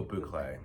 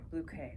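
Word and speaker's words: bouclé: Oh, boo clay. Boucle. We were told it's not boo clay, but I'm pretty sure I mean the designer in me that specifies fabrics, it's called a boo clay texture.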